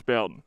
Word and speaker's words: Boughton: Got here a little late today, didn't get the chance to check for pronunciation, so we will assume Boughton, I would think. Boughton? It's Boughton.